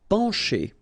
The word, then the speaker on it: pencher: Pencher. Okay, remember, E-N nasal, pen, pencher. Okay, C and H together will produce the sound sh.